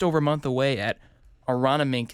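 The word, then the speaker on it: Aronimink: And the next major just over a month away at Aranamink is how you say it. If you look at the spelling of this golf course, it's interesting, but that's where the PGA Championship is.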